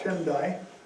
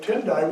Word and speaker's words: Tendai: and a school called Tendai was established in Japan. It almost is the same in Chinese, it's Tiantai. Tendai, Tiantai. Almost the same pronunciation.